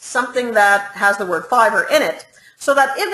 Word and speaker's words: Fiverr: on a Fiverr or fiver I mean how I never know how to pronounce that I always call fiver but people then tell me Nob Barb it's Fiverr and whatever so let's